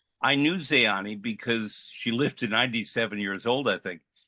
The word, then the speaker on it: Zeani: she was the she was also I would pronounce Zeani. Zani. Yeah. In Romanian it's Zany.